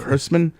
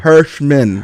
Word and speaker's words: Herschman: I think it's pronounced Herschman. Herschman. Okay. What? Yeah, say it with me, Herschman. Herschman, the Jewy German way to say it.